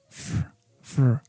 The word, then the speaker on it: for: We are going to pronounce for as fur, only F and R, fur. But if the preposition comes at the end, we are going to pronounce for normally.